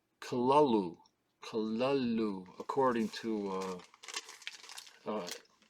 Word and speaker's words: Cthulhu: so of uh Cthulhu or do you say Cthulhu it's actually supposed to be pronounced kalalu kalalu according to uh uh uh Lovecraft HP